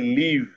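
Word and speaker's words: live: আইভি এটা বলতে হবে লিভ কেন লিভ হইল এই আই ছিল এখানে আই এর সাউন্ডটা ই এর মত হয়েছে। আমরা ভাওয়েল ডায়াগ্রাফে একটু শিখছিলাম এটা।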